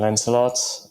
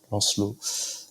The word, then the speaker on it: Lancelot: Yeah, for me, I don't really mind the English pronunciation Lancelot or the French Lancelot.